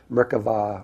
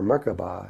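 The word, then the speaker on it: Merkabah: Well, the word Mer-ka-ba, if you take it in Hebrew, Mer-ka-ba or Mer-ka-ba is how it's said in Hebrew.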